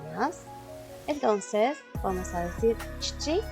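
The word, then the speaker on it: 父: Para hablar de mi papá se dice chichi.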